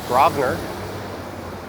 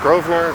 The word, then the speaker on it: Grosvenor: differently by different people i have an unreasonably good authority that it is grobner even though it looks like grosvenor i've heard grosvenor grovner raspner and just up ahead it